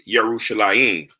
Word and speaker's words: Yerushalayim: So Israel is Yisrael and Jerusalem is Yerushalayim. So it's the Y.